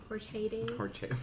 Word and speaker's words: horchata: Horchata? Yeah. Horchata. That's the authentic pronunciation.